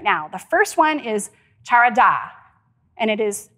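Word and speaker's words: חרדה: The first one is charada, and it is spelled C-H-A-R-A-D-A-H, charada.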